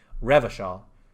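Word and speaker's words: Revachol: go inside there at some point revision is pronounced Revo Shaw around here is pronounced uh class yes pronounced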